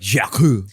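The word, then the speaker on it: Jacques: the second that's so sick but it's jack spelled like uh in french oh j-a-c-q-u-e-s it's like jakku and then gonna what the rapper gunner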